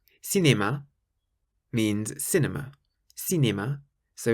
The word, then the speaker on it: cinéma: If you see the letter C in front of an E or an I, then you pronounce it like an S.